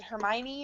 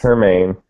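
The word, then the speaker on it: Hermine: Yeah, so coming from someone who was in Orlando during, is it Hermione? Is that actually how you say it? No, it's Hermaine.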